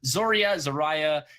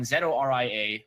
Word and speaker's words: Zoria: Well, Zoria or Zoraya is. You're right. It's tough to actually figure out the pronunciation of it. I apologize to all those mythical, ethnicities that might think that I'm being racist to the pronunciation of these fictional characters. Nonetheless, Zoraya is the correct one.